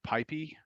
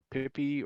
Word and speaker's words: PyPI: to build and publish up on Pipey or Pippy or PyPy or PyPI or insert however you want to pronounce that little thing there.